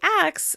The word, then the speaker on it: ask: You may hear some people say "ax" instead of "ask." This is actually one of the most common transpositions of sounds, dating back over a thousand years.